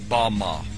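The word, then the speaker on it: במה: which satan fell is strong's hebrew word 1116 pronounced bama bama is most commonly used to refer to a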